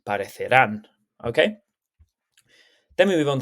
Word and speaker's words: parecerán: Make sure that the stress of the word when you pronounce it is the same as where the accent is. So it's not parecerán, it's parecerán.